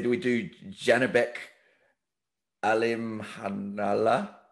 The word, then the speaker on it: Alimkhanuly: I was just going to say, do we do Janibek Alim Hanala? I think I got that right, because I wrote it phonetically. It's spelled AlimKhanuly.